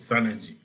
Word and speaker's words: Synergy: Chege, who works at Synergy, I believe, I hope I pronounced that right, here in Nairobi. Welcome, Daniel, and tell us more about your company. Hi everyone. I think the pronunciation is Synergy.